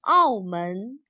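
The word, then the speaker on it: 澳门: Its Chinese name is written like this and pronounced Aomen.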